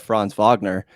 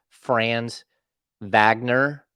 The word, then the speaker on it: Franz Wagner: Like, everybody knows I love Franz Wagner.